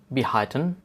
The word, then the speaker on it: behalten: In German we say behalten. Behalten. And remember, here L is silent.